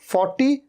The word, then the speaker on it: forty: अच्छा र के साउंड को तो आप लगभग भूल ही जाइए, इसे तो भूल ही जाइए आप। 40 और 14 र तो साइलेंट ही है।